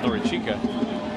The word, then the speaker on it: Norichika: to begin his career he wants to be called norichika his last name is pronounced